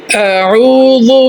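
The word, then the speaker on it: أعوذ: আউযু বিল্লাহি মিনাশ শাইতানির রাজীম। আউ, প্রথম হচ্ছে হামজা, পরে আউ, রু, আইন ও পেশ, রু বা আইন ও পেশ, রু। এখানে হচ্ছে আইন, প্রথমটা হচ্ছে হামজা। আউযু বিল্লাহ, আউযু বিল্লাহ।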